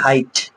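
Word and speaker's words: height: আছে সাইলেন্ট আছে এইচ ই আই জিএস টি হাইট এখানে কিন্তু জিএস টা কি আছে সাইলেন্ট আছে মানে অর্থাৎ যখন জি এইচ এর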